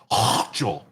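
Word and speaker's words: Hochul: reminds you of uh that's that was Governor Hchel that said that her name I've been told that's how you pronounce her name taxpayer dollars should not subsidize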